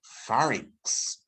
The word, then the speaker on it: pharynx: Then you have the pharynx, and that is spelled P-H. P-H gives the F sound, by the way.